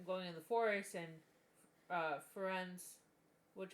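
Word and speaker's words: Firenze: It's not until the going in the forest and Ferenz, which apparently in the audiobook they pronounce it Ferenzi, and I just can't think, but Ferenz.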